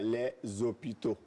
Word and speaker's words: hôpitaux: Oui, devant un H bien muet. sûr, bien sûr. Oui. Voilà, les hôpitaux. Mais je ne peux pas dire les zéros. Mais les hôpitaux, voilà.